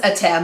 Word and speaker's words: Atem: So Kaiba wants to bring back Adam. Etem? Whatever. They pronounce it as Atem.